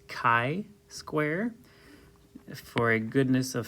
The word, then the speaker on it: chi: the name of the test this is not pronounced Chi or chai It's Chi Square for a goodness of fit and we'll